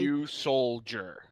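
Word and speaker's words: Ryusoul: is weird but okay you soldier well yeah it's like pronounced like a soldier it's old yeah it has this big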